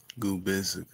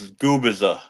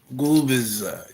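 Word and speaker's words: Gubicza: Gubisa. Gubisa. No, the the C is silent. So, it's Goubbiza. Gooer. Goubbiza.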